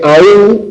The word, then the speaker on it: aún: Que hasta aquí tenemos monosílabos, estos ya no son monosílabos, porque aún, cuando es tónica, el acento recae sobre la vocal más cerrada, y por lo tanto es bisílaba.